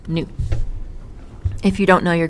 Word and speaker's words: nu: so again this is the Greek letter pronounced new if you don't know